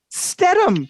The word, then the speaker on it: Stedham: do i say it oh it's statum stedham perfect i was not